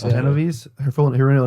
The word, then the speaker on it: Kitty Genovese: Oh, Kitty Genovese. Genovese. Yeah. Genovese.